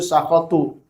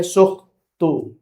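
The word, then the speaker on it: سخط: Ya, ada yang bacanya itu kan berbarisnya di situ sakhatu. Ya, yang ininya sakhoti fi sakhatil walidain. Ada yang membacanya sukhtu, ya.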